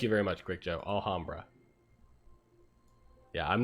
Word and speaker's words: Alhambra: to Alabama's gonna build the ala hum bruh Allah Brahma I don't really know how to pronounce that I think I realized after I